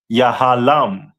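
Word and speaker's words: יהלום: And their stone is a diamond which is pronounced in the Hebrew as yahalam.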